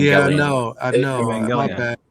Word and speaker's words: Evangelion: Damn, I keep saying I'm glad you just said that, bro, because I've been pronouncing his name wrong this entire time. It's from a Japanese anime, Evangelion. Yeah, I know. Evangelion. My bad. Evangelion.